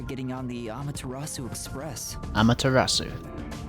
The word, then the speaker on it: Amaterasu: Amaterasu. That's how you say it.